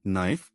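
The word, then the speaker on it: knife: Silent के pattern नाइफ, नो, नी night, knock सब में के साइलेंट है। एन से शुरू सुनाई देता है।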